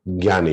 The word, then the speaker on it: Jnana: In original Sanskrit text, it is Gya, and that is very hard to pronounce. That is why we have so many versions of Gya. So I belong to North India. So I am practiced to speak Gya. So I will say Gyana Yoga.